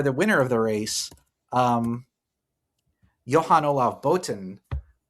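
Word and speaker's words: Johan-Olav Botn: winner of the race, Johan Olav Boten, Norwegian pronunciation. Good, Arthur? It's good enough.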